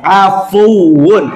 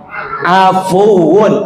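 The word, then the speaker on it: عفو: Afun. Apa tadi? Pakai ain dia, pakai ain. Afun.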